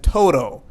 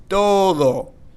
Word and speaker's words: todo: sometimes as Spanish Learners we may want to pronounce this as Toto Toto almost like Toad and then oh but no we're going to pronounce this as Todo I know that can be a little challenging